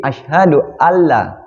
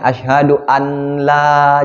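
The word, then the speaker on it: أشهد أن لا: ya Nah selanjutnya di Ashadu Alla asyhadual ya Bukan sa Bukan sa ya tapi Allah ya karena ada nun mati itu kita nggak boleh membacanya asyhadu anna Jangan gitu ya tapi Ashadu Alla karena disambut dengan huruf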